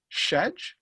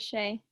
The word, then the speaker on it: Shay: Adriana, looks like it's Shedge? I don't know how to say the last name. Adriana, how do I say the last name? It's Ardiana, and the last name is Shay.